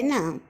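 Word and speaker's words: knee: परंतु अगर के बाद इमीडिएटली एन आता हो तो के साइलेंट बन जाता है। अजीब बात है ना दोस्तों, के अपनी आवाज़ ही खो बैठता है। इसका उदाहरण है नी, नाइफ, नो और नॉक।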